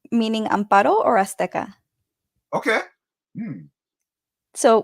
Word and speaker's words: Amparo: So my name, if you can roll your R's, is pronounced Amparo, and if you can't, then it's Amparo.